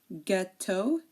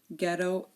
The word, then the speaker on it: ghetto: uh the letter H so if a word begins with GH the H is silent like G girin ghetto and ghost okay so